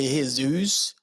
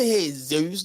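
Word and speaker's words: Jesús: Don't let them say Jesus. It's not a Jesus. There's no Z in no Spanish. It's Z. Jesus.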